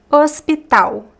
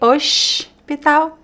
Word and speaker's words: hospital: Hospital. Hospital. Hospital. So the "h" is mute. The "s" could be "oshpital" if you want to speak with a carioca accent. The "l" does not sound like an "l".